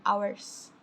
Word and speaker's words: hours: lautnya selama kira-kira tuh jam katanya about Seven hours night ya kalau Howard ini jangan bacanya hanya Jangan dibaca jadinya hanya itu gugur